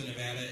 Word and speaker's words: Nevada: for a while, and I've misspoken and sometimes mispronounced something. Okay, that happens. Now, I did learn when I first came to Nevada as chairman of the Democratic Party, the first thing everybody told me is, it's Nevada.